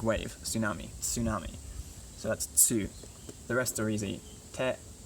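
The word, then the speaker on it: つ: Tsu, instead of tu, it's tsu, like tsunami, right? The big wave, tsunami, tsunami. So that's tsu.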